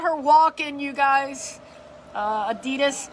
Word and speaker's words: Adidas: Adidas, actually pronounced Adidas. Don't hate me for saying it properly. But it's Adidas. No, it's Adidas if you're like American, but it's Adidas if you say it right.